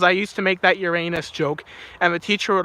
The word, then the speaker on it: Uranus: It's actually pronounced Uranus. It's not Uranus like most people think it is. It's Uranus.